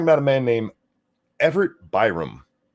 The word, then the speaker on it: Byram: We're going to be talking about a man named Everett Byram. Byram, yeah, that's how you say it.